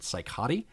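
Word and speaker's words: Cicotte: in one of the newspapers uh it was seot there are branches of his family other relatives not in Michigan who pronounce it psychot and possibly in a couple other variations too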